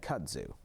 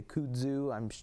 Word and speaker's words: kudzu: I've always said kudzu. Okay. I've always said kudzu, although I suppose you could say kudzu.